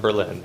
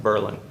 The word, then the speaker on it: Berlin: It's spelled like Berlin, but it's pronounced Berlin.